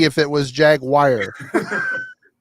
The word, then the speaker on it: Jaguar: Jaguar. It's Jaguar, not Jaguar. Jaguar. I've heard I've heard people from the south call it Jaguar. How is this call Jaguar? It's Jaguar.